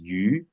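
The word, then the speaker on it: 鱼: The word fish is yu. It's actually mostly rhyme with leftover, not leftover, but plentiful, basically.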